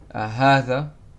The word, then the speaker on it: هذا: This, هذا. Notice I'm saying ha, it's as if there's an alif next to the ha. It's not written, but it's pronounced.